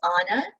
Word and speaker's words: Anna: on my name so my name is Anna uh Some people prefer to remember it's Anna br Anna like Madonna so hopefully that will